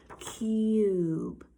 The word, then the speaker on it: cube: I spell tub but I want a long you sound so that means I have to have silent e at the end I have to have super e right at the end cube very good and then